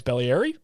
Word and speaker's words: Beglieri: Alessio Beglieri is going to get the start for the Steelheads, and apparently it's Bellieri. We've been pronouncing his name wrong this whole time.